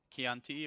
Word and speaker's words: Chianti: Chianti or a Chateau of the poppity poppity poppity poppity poppity poppity poppity pop?